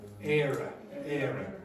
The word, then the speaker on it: Éire: Era.